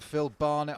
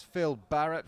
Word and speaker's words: Phil Barrett: me on my pronunciation it wasn't phil barnett on that great uh end around uh sorry that great run option play it was phil barrett philip barrett quite right number two made a